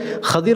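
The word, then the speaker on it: خضر: என்பது இவர்களுடைய சிறப்பு பெயர் நிறைய பேர் ஹிதிர் ஹிதிர் என்று கூறுவார்கள் சரியான உச்சரிப்பு கதிர் என்பதுதான் ஹாக்கு பத்ஹா வந்து லாதுக்கு கஸ்ரா வரவேண்டும் கதிர் இதைத்தான் ஹதீஸிலே ரசூலுல்லாஹி ஸல்லல்லாஹு அலைஹி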